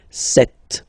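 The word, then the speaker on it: sept: all right then here remember B is not pronounced okay doesn't exist so you got this set sound set set okay then here final T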